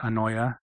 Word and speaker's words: Aneue: And so uh this is a type face that I designed called a new or uh you can also pronounce it annoya depending on how you uh prefer.